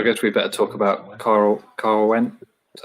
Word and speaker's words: Caerwent: So I guess we better talk about Caerwent. Is that how you pronounce it?